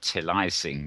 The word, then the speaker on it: Till I Sing: Tilly sing but um the idea is you pronounce it Tilly sing because um as they say the show won't be over till the fat lady sings so that's a till I sing for you and